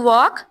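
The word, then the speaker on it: walk: टू वॉक। हल्ला। अच्छा, वॉक में कोई वर्ड साइलेंट है? लेटर साइलेंट है? एल। एल। शाबाश, आपकी तो बहुत अच्छी तैयारी लग रही है।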